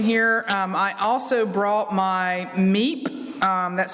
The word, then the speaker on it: MEEP: I also brought my MEEP. That's spelled M-E-E-P, MEEP.